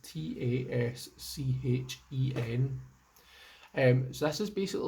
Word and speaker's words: Taschen: By Tasken, I think it's pronounced Taschen.